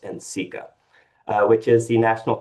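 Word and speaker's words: NCECA: Not only did I learn what Nikka was through them, but I also learned that it was actually pronounced in Sika, uh, which is the National Council on Educations for the Ceramic Arts.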